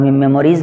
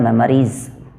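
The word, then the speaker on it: memories: नहीं, कोई बच्चे तो इसे मेमोरी पढ़ते हैं, मेमोरीज़ का प्रोनाउंसिएशन नहीं होता। इसका प्रोनाउंसिएशन के रूप में हम अगर चलूँ तो इसका प्रोनाउंसिएशन होता है मेमोरीज़, मेमोरीज़। क्लियर?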